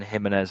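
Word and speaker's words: Jiménez: that's easier and then himz our right back himz because it's pronounced the same oh God this team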